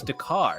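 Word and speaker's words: D'Qar: know this uh that the planet is dakar is that how you pronounce it d-q-a-r dakar that's how i say jakar okay and that's it the car is correct a perfect young ling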